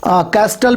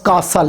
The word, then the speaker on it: castle: इसको कैस्टल भी पढ़ते हैं, कास्टल भी पढ़ते हैं, तो ये लफ्ज़ कासल है, जिसको महल कहते हैं, CASTLE।